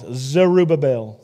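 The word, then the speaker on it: Zerubbabel: name his name is zerubabel say that with me arabel you even said it wrong it's zerubabel zel there you go please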